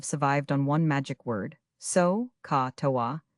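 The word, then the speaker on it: SOHCAHTOA: Generations of students have survived on one magic word, so ca toa. Say it like a sneeze, write it on every page.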